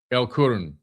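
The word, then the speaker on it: El Qurn: I think it's Karna. L Q U R N Kurin. El Kurun. That's what that's how you say it.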